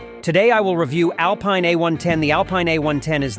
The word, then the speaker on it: Alpine: Now, since Alpine is French, pronounce it Alpine rather than Alpine, and that's how she achieved that featherweight figure.